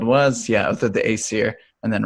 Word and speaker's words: Aesir: I'm going to mispronounce the last word. That's okay. Aesir? Aesir, yeah, that's right.